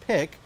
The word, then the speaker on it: pyq: opened its newest store entitled pyq but that's pronounced pick the new store features